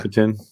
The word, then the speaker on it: Ticotin: Yeah, Ticotin.